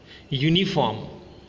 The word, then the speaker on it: uniform: Now let's pronounce the following: uniform, European, unicorn. All these words begins with the phonic sound u, yu, which is a consonant sound.